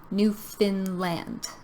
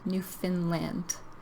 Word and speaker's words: Newfoundland: So when we pronounce this, we kind of change the word found to fin. Newfoundland. Newfoundland.